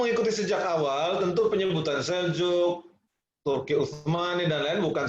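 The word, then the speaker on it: Selçuk: Jadi tulisannya pakai C, tapi kita bacanya pakai J, sehingga kadang kita nyebutnya Seljuk, tapi tulisannya di sana Seljuk.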